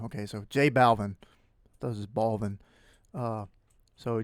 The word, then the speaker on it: Balvin: this hold on okay i just watched this video somebody says balvin okay so jay balvin does his baldness uh